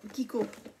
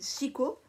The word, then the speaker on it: Kiko: ya des gens qui de chico ça se prononce qui courent je pense pas que moi entraîne au pérou mais ça s'écrit chico parce que bon voila mais ses marques italiennes du coup ça se prononce kiko et donc je cours